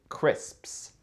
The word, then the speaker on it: crisps: Ça, en Angleterre, c'est crisps. Crisps. Ça, c'est dur à prononcer aussi.